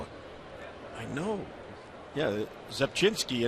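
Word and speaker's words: Rzepczynski: Yeah, Zepchinski, and it begins with the letter R. Which is silent.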